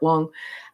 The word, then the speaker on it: Wang: Wong I forget anyway Garrett Wang but it can also be pronounced as Garrett Wong um he's a wonderful